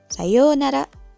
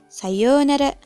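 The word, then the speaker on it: さようなら: yang cukup lama nah untuk pengucapannya ounya dibaca panjang ya Sama halnya dengan Ohayo gozaimasu Sayonara Sayonara nah yang terakhir adalah salam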